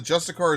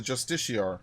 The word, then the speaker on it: justiciar: Han let me know the justicar is vzon and vzon is the justiciar I keep saying it wrong what was it justicar